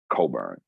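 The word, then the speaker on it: Cockburn: um his last and his last name is is not spelled like it sounds it's u r c-o-c-k-b-u-r-n coburn and his first name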